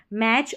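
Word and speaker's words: match: Number 11 पर है T silent, T सी एच के कॉम्बिनेशन में, टी सी एच के कॉम्बिनेशन में, देखिए टी सी एच के कॉम्बिनेशन में यहाँ पर टी साइलेंट है। वॉच, सी एच को च पढ़ा गया है। मैच और कैच।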